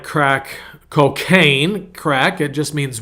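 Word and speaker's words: craic: And so, C-R-A-I-C, crack. What's the crack? That's not like crack cocaine crack.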